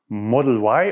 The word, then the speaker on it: Model Y: We also asked you last week how you pronounce Tesla's Crossover SUV: Model Why in English or Model Ypsilon in German.